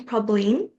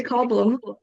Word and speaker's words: Pauline: This one was about my name, Pauline, but a lot of people kind of mispronounce it. So my teacher in kindergarten used to call me Problem, and it was just